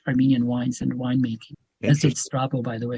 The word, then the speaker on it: Strabo: And if you pronounce the B in the correct Greek, it would be Stravo, but Stravo means crooked.